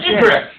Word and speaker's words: egress: It's spelled EGRES. Yes, egress.